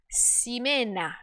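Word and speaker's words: Ximena: qual ela falou que o nome dela se pronunciava simena eu acho que eu perguntei para ela qual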